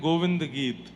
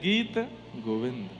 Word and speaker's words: गीत गोविंद: अब पद सुनाने को तो कहा, पर पद का नाम गलत लिखा है। क्या कह रहे हैं? गोविंद गीत, जबकि है गीत गोविंद। बोलो गोविंद गीत सुना दीजिए। तो पहले भैया उच्चारण उचित करो।